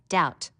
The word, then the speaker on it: doubt: learn how to spell doubt notice the silent B foreign a g that